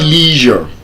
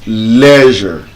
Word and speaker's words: leisure: It's not leisure. It's leisure.